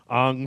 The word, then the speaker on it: Aang: And it's not Ong. Ong is how they pronounce it in that fucking movie. oh, okay. It's Aang. Aang. Okay. Yeah. Ong is some sort of Shyamalan bastardization. Oh, okay.